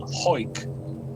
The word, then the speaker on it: Hawick: tiny place called Hoik, which is Hoik. spelled Hoik, which is spelled Hawick.